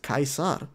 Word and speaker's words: Caesar: Apparently, it's because in the original, Latin, I guess, it's pronounced Caesar, and that's why the